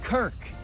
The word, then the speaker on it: Kirk: Why are you throwing balls at my face, Kurt Cousins? It's Kirk.